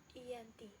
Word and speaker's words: Giyanti: Nama Giyanti sendiri diambil dari lokasi penandatanganan perjanjian, yakni di Desa Janti. Dalam pelafalan Belanda sebagai Iyanti dan secara tertulis terbaca sebagai Giyanti.